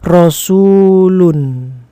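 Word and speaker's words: رسولٌ: Sedangkan yang di bawah bagaimana cara membacanya? Iya, tepat sekali. Rasulun ya dibaca domatain karena ee di awal tidak ada alif lam, maka di belakang ini kata terakhirnya, huruf terakhirnya dari kata itu adalah dibaca domatain rasulun.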